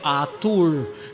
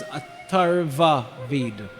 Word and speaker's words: Atharva Ved: I heard somebody said Atur. There's no thing as Atur Ved. It's Atharva Ved.